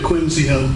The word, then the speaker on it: Quinzio: Quincy. Thank you. Anything further? No, Your Honor. Judge, I may have been mispronouncing his name. I meant Quinzio.